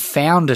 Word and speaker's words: Foundr: And because, of course, it's called Founder Today, we should say. Yes. And that's spelt with Foundr. It's the trendy way with dropping a vowel.